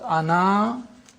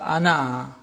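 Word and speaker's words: أنا: This means that the alif is not pronounced in continuous reading but it is to be pronounced in the pausal form. When you pause ana you read the alif.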